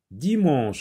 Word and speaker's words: dimanche: Dimanche, attention, mais ça ne se prononce pas. Je vois un E, mais il ne se prononce pas ici le E. Dimanche. Oui, je vois E, j'entoure, mais le E ici ne se lit pas.